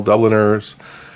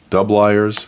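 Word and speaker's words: Dubilier: there's this Cortland Cornell Dubliners dub liar's is the right way to say it and there's arrow box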